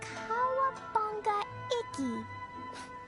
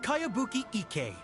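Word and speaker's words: Kayabuki Ikki: By Kawabunga Iki. Yoimiya, this is a really strange name. Who's this Kawabunga? It's pronounced Kayabuki Ike.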